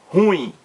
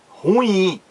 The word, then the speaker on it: ruim: foi corretíssima foi corretíssima ele não disse ruim jogo ruim como o J mas jogo ruim ele acertou o Alex